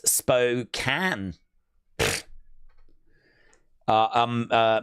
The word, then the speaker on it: Spokane: Uh Suzanne said, "Spokane is pronounced that way, but in Washington it's Spokane."